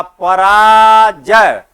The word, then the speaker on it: पराजय: जब भी हम किसी शब्द का उच्चारण करते हैं, जैसे पराजय, अब जब हम उच्चारण करेंगे तो सही उच्चारण क्या होगा? पराजय, पराजय। परा के बाद हमको थोड़ा सा विश्राम लेना पड़ता है।